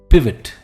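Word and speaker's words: pivot: जो है क्या यह पाइवट है नो इट्स नॉट पाइवट इट्स पिट पिट पिट का मतलब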